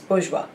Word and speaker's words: bourgeois: scrupulous opposite is artful bourgeois so this is like a french word so uh remember the pronunciation is bourgeois and the four options